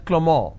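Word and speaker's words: Clément: it's pronounced at Avril the name Clement is pronounced as clemor in French so the names are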